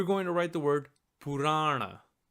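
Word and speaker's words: पुराण: We're going to write the word Purana. Purana. First step, as always, break the word by syllable. If you listen carefully, you'll see that this word has three syllables. Pu, ra, and ra.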